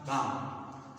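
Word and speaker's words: calm: मतलब होता है शांति काम सी ए एल एम काम तो इसमें भी ल का उच्चारण नहीं होता काल में नहीं पढ़ा जाता बल्कि काम पढ़ा जाता है और ये ये भी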